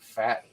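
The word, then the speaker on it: Pfaadt: Brandon, I think Fat is that how you pronounce it?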